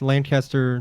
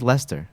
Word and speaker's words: Leicester: do you say it how do you say it it's just it's just Lester Lester Lester well whatever